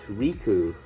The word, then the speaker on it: Riku: dear beagle in red my name is Riku pronounced Riku oh I remember you from Madeira steel box